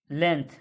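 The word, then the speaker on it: length: The letter जी इस लेंथ में जो जी लेटर है इज साइलेंट है। व्हेन जब द वर्ड लेंथ जब जो वर्ड लेंथ है इज स्पोकन बोला जाता है, द ji sound is not uttered मतलब जी शब्द का उच्चारण नहीं होता है।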